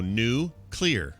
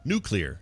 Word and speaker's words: nuclear: here's how you remember you look at the word and you see le AR you go new clear you just pronounce it nuclear sure sure nailed it